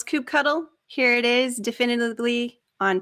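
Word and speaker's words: kubectl: if there is any question on how to pronounce coop cuddle here it is definitively on page 12 of this children's book this is how you pronounce coop cuddle another way to learn kelsey hightower has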